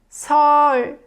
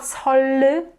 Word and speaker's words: 설: 설. It's not 설, but 설, right?